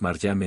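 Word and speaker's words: مريم: más simple es que como María y Miriam se pronuncian ambas maryam en árabe Mahoma basándose en las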